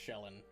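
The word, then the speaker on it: Shelyn: guy mule shelin uh I think it's pronounced shelin actually God of y n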